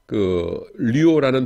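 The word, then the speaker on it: λύω: 이게 류오라는 동사의 근간은 뭐냐면은 류예요. 류. 여러분 이거 읽을 적에 루오라고 읽지 않도록 조심하세요. 윕실론은 위라고 했어요. 그래서 류오입니다. 류오.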